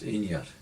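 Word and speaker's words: Inbhir: And although its spelling in Gaelic is I-N-V-B-H-I-R, which normally BH would be pronounced like a V. Mm-hmm. But very often it was just Inyar. Right. And Right. that type of name still survives in Leithen, Right. where you don't pronounce the V. Yeah. So Instead of Inver, which is what most people would say, it's Inyar. it's Inner. Yeah. Well, anglicised to Inner. Yeah. Inyar in Gaelic. Inya. And so the village in Inverai was Inyarai, Mm.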